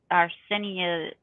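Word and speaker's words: artesanía: but it's our sin arsenia uh I can't think of the first word Rinconada yeah yeah it's a-r-t-e-s-a-n-i-a and then rankinar Rinconada something like that I'm not saying the first word right I mean according to this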